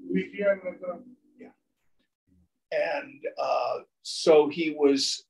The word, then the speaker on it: Vijayanagara: And he was a major figure politically in the, I think it's pronounced the Vijayanagara Empire, is that right? Vijayanagara. Vijayanagara.